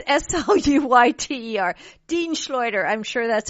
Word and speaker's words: Sluyter: Really quickly, Dean Schleuder. Boy, I hope I didn't Schleuder his name. It's Sluyter.